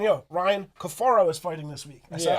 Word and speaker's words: Cafaro: this kid, like everybody was saying, yo, Ryan Cafaro is fighting this week.